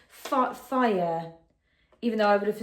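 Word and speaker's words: Fage: It's called, oh, it said, tells me what it's pronounced. It's called fire, even though I would have assumed that was just called Farg or Fargate, but apparently it's pronounced fire.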